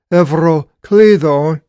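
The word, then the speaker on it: Εὐροκλύδων: O kaluminos evroklidon being called evroklidon in the Greek pronunciation.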